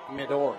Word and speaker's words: Midor: I was told at halftime his last name's pronounced Midor. Midor, okay. Mm-hmm. There we go. And here's Midor, as the correct pronunciation of his name.